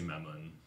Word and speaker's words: Mammon: D&D c'est en anglais, puis en anglais c'est Mammon. Fait qu'il y a Ou pas de Mammon. Mammon. Ok, il y a pas de... Mammon. Ou Mammon. Mammon. L'accent est sur le O, sur Ok. la dernière syllabe.